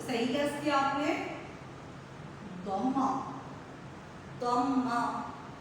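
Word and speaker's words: ضمة: जी, तो सही गेस किया आपने, दम्मा। दम्मा। हाँ जी, जुम्मा नहीं कहेंगे इसे, काफी बच्चे थोड़ा सा गलत प्रोनाउंस करते हैं इसे।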